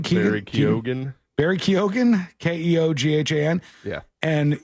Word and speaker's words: Keoghan: Kogan? Barry Keoghan.